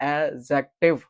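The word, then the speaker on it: adjective: इसको बच्चे एडजेक्टिव एडजेक्टिव पढ़ते हैं जो कि गलत पढ़ते हैं। तो यहां पे डी साइलेंट हो जाता है तो इसको पढ़ा जाता है एडजेक्टिव।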